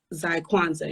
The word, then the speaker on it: Zykwanza: Because your Instagram name is Zykwanza. Am I pronounced it right?